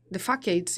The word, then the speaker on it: facade: I have a book about this that's about the, not the specific places, but the facades is how you say facades.